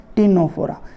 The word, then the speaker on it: Ctenophora: टीनोफोरा, जिसमें ऐसे लिखा जाएगा, सी साइलेंट रहेगा, CTNENO, टीनोफोरा।